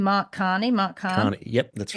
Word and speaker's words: Mark Carney: But this other guy coming in, how do I pronounce his name? Mark Carney.